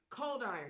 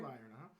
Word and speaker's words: Coldiron: Y'all welcome to the show, Coldiron. Did I pronounce that right? Yes, ma'am. All right. Coldiron, Welcome to the show, sir.